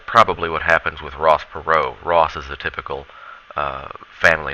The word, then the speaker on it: Perot: someone named H Ross Perot it's a French name that's why we don't pronounce the T so H Ross Perot's and American businessmen he